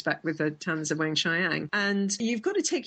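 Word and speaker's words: Weng-Chiang: mispronunciations. I've been figuring out how to say the talons of what is it? Wang Chiang. That's it. You got it. You got it. Wang Chiang.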